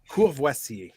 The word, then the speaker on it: Courvoisier: Courvoisier.